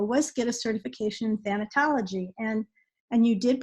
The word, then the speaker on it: thanatology: And one of the things I did do a long time ago was get a certification in thanatology. And you did pronounce it right.